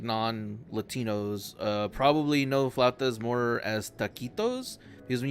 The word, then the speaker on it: flautas: we go quesadillas um flautas I'm not sure if I'm pronouncing that correct yeah probably not it's flat does you got it yeah